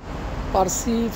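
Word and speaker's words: فارسی: বা ইরান বিচিত হয় এরপরে তারা উচ্চ তারা পি উচ্চারণ করতে পারে না আরবিতে কোন পি নেই সো তারা পিকে পকে উচ্চারণ করে তো ফার্সি হয়ে যায় তাদের কাছে ফারসি এখন আসি যে দাড়ি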